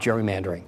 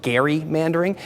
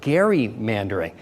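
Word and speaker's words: gerrymandering: do have a surprising amount of knowledge about Jerry mandering I mean for instance did you know it's actually pronounced Gary mandering named after a founding father named Elbridge Gary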